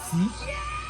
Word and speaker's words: phi: Et dans l'alphabet grec, il y a la lettre phi, qui est prononcée comme phi, P-H-I, phi, qui est un symbole pour commencer comme ça, au virer et puis au descendre.